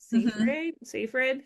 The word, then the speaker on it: Seyfried: Seyfried. How do you say her last name? Like you just did.